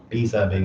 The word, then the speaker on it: 披萨饼: Pizza being is how you say Chinese in how you say pizza in Mandarin.